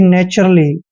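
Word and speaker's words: naturally: आर आता है तो टी यू आर का उच्चारण चर करना है और यहां पे ए डबल एल का उच्चारण ल करेंगे और वाई को बड़ी की मात्रा लिखेंगे यानी कि नेचुरली ठीक है आप इसको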